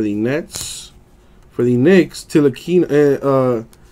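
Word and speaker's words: Ntilikina: For the Knicks, Nilakina, the T is silent.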